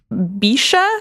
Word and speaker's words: bece: Came from, I tried to look up the pronunciation of this, BECE, which is Bisha, I think, like somewhere between close to what it was.